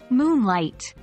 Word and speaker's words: Moonlight: Moonlight we stress Moon Over light 3.